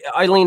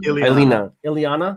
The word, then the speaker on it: Ileana: Yeah, if you can, Eileen, if you can, or Eileen, I'm saying that name wrong. Yeah, Ileana.